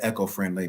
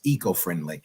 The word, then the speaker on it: eco-friendly: to have you um I said echo-friendly maybe it's the the proper pronunciation is eco-friendly e yeah you say tomato